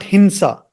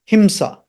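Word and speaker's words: हिंसा: Om, Om, Steya, Steya, Himsa, Himsa, not Hinsa. That Hindi people in North usually pronounce this as Hinsa with an N. That is in Hindi, but in Sanskritam, Himsa, M.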